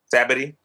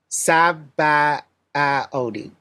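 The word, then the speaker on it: Sabaody: Sabidity. That's not what that's not how they say it. Saba Odi.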